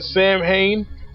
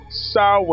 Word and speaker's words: Samhain: spirit called Lord sigh which a lot of people pronounced at Samhain but as I told you guys in 2014 it's actually pronounced sow and I'm not gonna